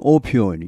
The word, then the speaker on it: opioid: 발음은 opioid users, 이런 사용자들이 account for 얼마를 차지하답니다.